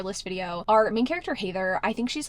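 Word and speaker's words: Hathor: t h o r it's kind of Heather but like hather I thought this was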